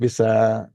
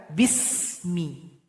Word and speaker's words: bismi: Perhatikan ayat yang pertama, di sini ada huruf sin, jangan dipantulkan. Enggak boleh dibaca bisa, harusnya dibaca bismi. Jadi alirkan bunyi nafas kita, bismi.